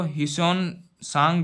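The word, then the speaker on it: Xuanzang: to court ठीक है यह जन जांग इसको हि सोन सांग भी बोलते हैं टी साइलेंट है जन जांग कुछ इस तरह से यह एच और टी कुछ एक तरह साइलेंट का सिस्टम है इस बुद्धिस्ट मोंक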